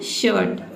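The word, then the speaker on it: shirt: Word में आई आर अगर एक साथ हो तो आई आर को हम क्या पढ़ेंगे? अर पढ़ेंगे। ठीक है? अर यहां पे भी केवल आपको अ पढ़ना है। ठीक है? आधा र को आपको प्रोनाउंस रखना है। देखिए वर्ड देखते हैं। शर्ट। ठीक है? शर्ट। एस एच का हो जाएगा श। और आई आर को क्या पढ़ेंगे? अ और टी का हो जाएगा ट।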